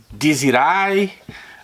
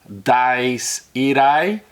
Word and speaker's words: Dies Irae: from H de Janeiro diai uh as people used to pronounce here in Brazil but I will live here it's a Latin term di iri um it's a a